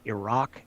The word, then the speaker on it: Iraq: So, one of my biggest pet peeves in the world is people who improperly pronounce Iraq and Iran.